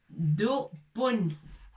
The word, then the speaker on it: دب: Dubun, l'ours. On a déjà vu le mot. Dubun. Voilà, c'est B avec shidda et avec tanwin. Avec tanwin.